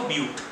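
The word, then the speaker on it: but: अगर 4 है तो ब्यूट, ऐसे लिखते हैं बट प्रोनाउंस कैसे करेंगे इसको, ब्यूट, ठीक है, ब्यूटी का ब्यूट, ओके।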